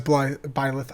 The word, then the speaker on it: Byleth: So they announced that, but the other things that they announced with, besides Byleth, I used to call him Blythe, but I guess that's not how you say his name.